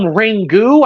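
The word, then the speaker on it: Ringu: the 1998 Japanese film rangu I believe is what's uh what it's uh how it's pronounced a ring you a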